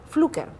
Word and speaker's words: Pflücker: Para muchos conocedores del tema cultural e historia aquí en Lambayeque, me van a decir, Milagros, estás pronunciando mal, es Pflücker.